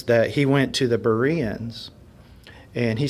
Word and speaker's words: Berean: Am I saying it right? Berean? No. You said it right when you said it wrong. Berean.